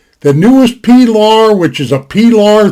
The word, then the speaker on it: Pilar: pillar in the poor pilar is how it's pronounced pilar the newest pilar which is a pilar 3.